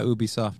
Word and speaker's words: Ubisoft: Ubisoft. Yeah, Ubisoft.